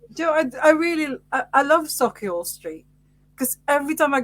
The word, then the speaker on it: Sauchiehall: I walked from one end of Sauchiehall Street to the other end of Sauchiehall Street. well, you can pronounce it properly, so that's good.